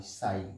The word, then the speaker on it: psi: और इसमें देखो, ये जो साई है, साई PSI साई, इसमें P साइलेंट रहता है, इसे बोलते हैं साई।